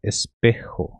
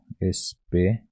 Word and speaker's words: espejo: Espelho é espejo. Espejo. E seria mais ou menos esta forma de pronúncia. Espejo. Espejo. Só que você tem que trazer esse J como R, né?